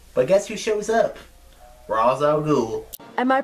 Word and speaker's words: Ra's al Ghul: he says who you working for he's like Ra's al Ghul he's like Ra's al Ghul is dead and